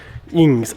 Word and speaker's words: INGS: If you guys can even hear what I'm trying to pronounce, freaking voice is still gone, but INGS, I-N-G-S.